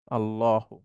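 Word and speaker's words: الله: সেটাকে আমি একটু লিখছি আল্লাহু এটাকে বলা হয় আল্লাহ শব্দ এটার শুদ্ধ উচ্চারণ হচ্ছে ল অর্থাৎ লানা সাধারণত আল্লাহ বলতে আমরা বাংলা শব্দের যে ল টা আছে সেটা ব্যবহার করব ল আল্লাহু আল্লাহু আল্লাহু আর কখনো কখনো এই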